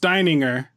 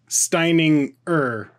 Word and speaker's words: Steininger: Also, my last name is very German, and it's pronounced Steininger, but everyone wants to pronounce the G. So it's like that's pretty common in English, right? Yeah. So they want to say Steininger or Steininger, but it's Steininger.